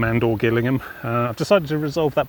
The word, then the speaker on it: Gillingham: My disastrous mispronunciation of Gillingham and or Gillingham.